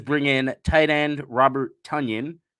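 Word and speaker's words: Tonyan: in tight end Robert tanyon rhyming with Funyun which rhymes with onion which is the whole point of Funyun so we got Robert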